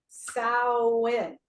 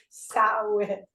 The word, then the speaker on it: Samhain: Samhain. It's like, it is so hard because your brain sees it, and this is how it's supposed to be pronounced, but it is in fact, it's a Gaelic word, and you know the